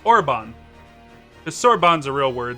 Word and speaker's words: Orbonne: a real word cerbone let me see how this is pronounced sorbonne sorbonne so it's orbon the sorbonne's a real